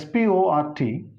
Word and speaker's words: sport: This is SPORT, but here one extra R is there, but that R is to be silent and it is pronounced as in cot, so spot.